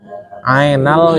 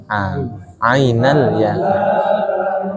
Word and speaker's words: عين اليقين: Ainal yakin. Ya, tadi saya dengarnya ainal. Yang benar apa? Ainal yakin.